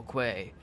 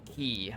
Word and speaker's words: quay: the windows of the small quay, or small key, I think is actually how it's pronounced, the small key.